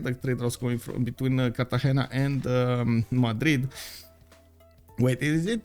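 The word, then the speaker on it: Cartagena: Kartahena. Kartahena.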